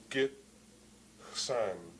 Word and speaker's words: Gitxsan: So we have Gitxsan, 2 syllables. Git, which has a short I, is the most prominent part of the first syllable, and Xsan or Xsan, as where the short A is the most prominent part of the second syllable there.